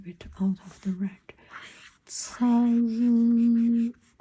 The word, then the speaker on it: 仓: Cang, Cang, not Kang. Okay, C. This pronounced C.